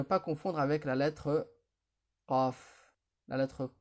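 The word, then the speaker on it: قَ: Et ici, comme on l'a vu précédemment, la lettre Qaf se prononce Qa.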